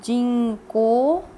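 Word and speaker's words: 人口: but it does not the reading would be easier it's read as Jing ho but this represents populations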